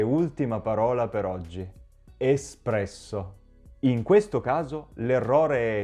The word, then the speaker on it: espresso: Espresso. In questo caso l'errore è sia nella pronuncia che nell'uso della parola.